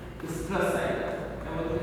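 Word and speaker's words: oestrus: ओएस्ट्रस, इसको पढ़ते हैं स्ट्रेस साइकिल, ओ यहाँ पे साइलेंट है।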